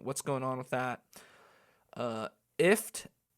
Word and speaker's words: IFTTT: IFT, which is spelt IFTTT.